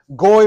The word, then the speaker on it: גוי: Goy rhymes with joy, right?